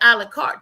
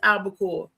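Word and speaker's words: albacore: It's not um it's I think it was I think it was Albaore tuna and she said alakart tuna. I said it's not alart auntie. I say it's albaore and and she let that go.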